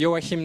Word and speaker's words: Joachim: It's actually Yoim, but it can be a bit tricky to pronounce.